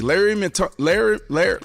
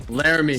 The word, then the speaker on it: Laremy: Larry Tunsil. How you say his name? Golly. Laremy. Say it again. Laremy Tunsil, excuse me.